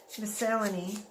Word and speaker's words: miscellany: Miscellany, that's how you say it.